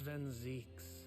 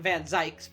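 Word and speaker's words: van Zieks: month and Gregson so finally somebody has said his name and I've I've been uh pronouncing it along uh the entire time that's fine I'm not gonna change it I'm gonna keep calling him van zykes because I'm too far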